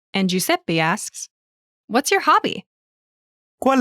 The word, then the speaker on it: hobby: Pronunciation note: the letter H in Italian is never pronounced.